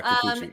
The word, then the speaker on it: Kikuchi: I'm not sure how to say his name's Kikuchi, is that right? Yeah, Kikuchi.